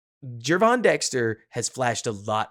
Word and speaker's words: Gervon: that pointed out that I keep using a hard G everybody else is settled on a Jay Geron Dexter has flashed a